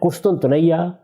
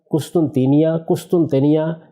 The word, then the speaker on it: قسطنطینیہ: گا۔ قسطنطینیہ یعنی استنبول۔ قسطنطنیہ، قسطنطینیہ، یہ اس کے مختلف تلفظ ہیں جو ہمارے ہاں رائج ہے تلفظ۔ یہ استنبول ہے، اچھا،